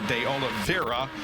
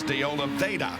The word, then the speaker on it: de Oliveira: And I know we're going to get letters saying, oh, you pronounce his name wrong because there's an R in there. It should be de Oliveira, but he says de Oliveira, so that's the way we pronounce it.